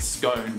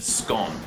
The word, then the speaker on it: scone: what we call a SC except we don't pronounce it scone we can pronounce it scone SC C it we actually spell it the